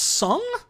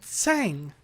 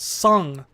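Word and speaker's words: Tseng: are the best part of this game it's pronounced sung I always pronounce the sang okay not always I used to pronounce it tasang tasang no okay I'll take your word for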